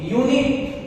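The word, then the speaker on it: unit: यूनिट, यूनिट का उच्चारण य से शुरू हो रहा है, इसलिए यूनिट के पहले हमें ए का प्रयोग करना होगा।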